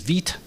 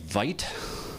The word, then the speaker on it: Vite: Uh the build tool that we selected is VIT. And I know it looks like vite, but uh it's pronounced vit. It's a French word.